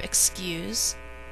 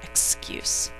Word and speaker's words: excuse: first syllable second syllable you use the verb excuse uses a second sound for s the noun spelled the same way uses the first sound and we would say excuse do you have an